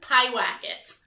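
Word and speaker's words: Pyewacket: which i did like sorry say that again pie whack it i don't even know what to say to that i'm gonna spell it e t p-y-e-w-a-c-k-e-t racket okay sure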